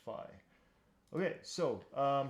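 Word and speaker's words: phi: just a quick correction this right here is actually pronounced fi okay so um how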